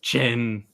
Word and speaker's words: Qin: it's pronounced Qin.